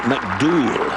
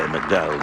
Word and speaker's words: McDowell: Pronounce it McDool in Northern Ireland. We say McDowell, they say McDool.